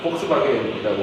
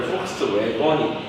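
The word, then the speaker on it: Volkswagen: 우리 독일어에서는 W 발음을 뭘로 읽어? V로 읽잖아. BMW가 아니라 BMW라고 그러잖아. 폭스바겐이라고 읽고. 원래 폭스웨건이 왜 사람들이 찾아나 외번 있잖아. 근데 와겐이라고. 이게 이제 모음조화가 확인되면 뭐가 되는 거야?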